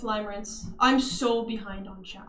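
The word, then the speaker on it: limerence: You're saying it wrong. It's Limer Rance.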